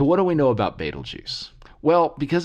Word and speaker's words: Betelgeuse: pronunciations I'm gonna go with baitul juice okay if you have a preference I hope this doesn't grate on you too much if this isn't your preference but this is the sort of the the way that I learned to say it a lot of folks know it and you know this is probably not the best way to say it but you know a lot of folks know the stars Betelgeuse and not to be